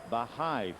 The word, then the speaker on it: Baha'i: the other night about khalil who practices the baha'i faith i hope i'm pronouncing that properly b-a-h-a-i and i thought maybe